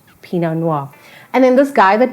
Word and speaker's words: pinot noir: p no noir now you cannot say it without sounding super fancy because it's just levels of the tongue it's pinot but with a noir pinot noir and then this guy